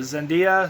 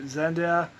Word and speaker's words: Zendaya: um probably going to mispronounce her name but zendiya said zendaya she did really good as mj the actor